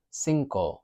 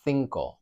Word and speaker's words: cinco: The number 5, we've got cinco or cinco, depending on your accent. Cinco, cinco, that I is changing the C from a k to a soft C.